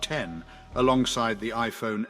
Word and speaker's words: X: with the release of the iPhone x pronounced 10 alongside the iPhone 8.